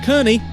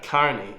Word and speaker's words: Kearney: name of form of Kearney came from money golly what is he current uh Carney Carney Carney not Kearney the county of lay a move to the U.S in 1850.